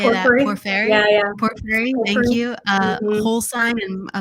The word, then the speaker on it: Porphyry: Porphyry, thank you.